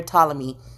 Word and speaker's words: Ptolemy: The P is silent. In honor of Ptolemy.